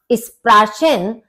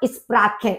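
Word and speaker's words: Sprachen: क्योंकि आपको बताया था कि अ के बाद यदि सी एच आता है तो उसका जो प्रोनाउंसिएशन है वो खा हो जाता है।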